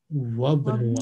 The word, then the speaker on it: وابن: Wabnu, alif is silent. When there is a word before alif, alif becomes silent. Wabnu.